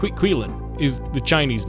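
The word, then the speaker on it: Qilin: It's pronounced Quilin is the Chinese name.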